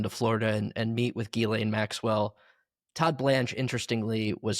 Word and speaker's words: Ghislaine: Well, one, I'm glad you said Ghislaine Maxwell because that's the correct pronunciation of her name. I get so it's Yes, it's a pet peeve of mine too when when people people. say Ghislaine, I'm like Yeah, that sounds gross.